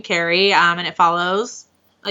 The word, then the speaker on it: Carrie: do you say it do you say carrie or carrie carrie carrie okay like i carry something i think i say